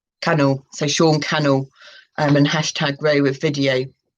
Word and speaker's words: Sean Cannell: at the top at sean canal no it's pronounced like channel channel so sean cannell and hashtag ray with